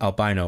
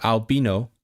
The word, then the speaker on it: albino: Albino. What's how do you pronounce it? Albino. Albino. Oh, albino in the UK. Albino in the US.